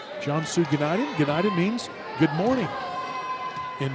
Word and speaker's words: Cansu Günaydın: in UTA as United, which did some research on that name and how to pronounce it today. United in Turkish, where she is from. Cansu Günaydın.